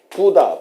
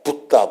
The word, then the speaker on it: 붓다: 되지만 어 난방에 가면은 실제로는 어떻게 발음을 하는 거니 부다 부다 그렇게 합니다 부다 부다 요거 좀 세게 저기 액센트를 두서 부다 부다 우리처럼 그다 붙다 붙다 그것은 아마 영어식 발음이라고 생각할 수 있는데 현재가 보면은 인도 같은데가 보면은 부다 부다 이렇게 얘기를 한다는 거 그걸 알아두시고 그래서